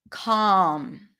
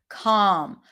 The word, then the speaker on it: calm: Calm with the LM pattern. Don't pronounce the L. Calm.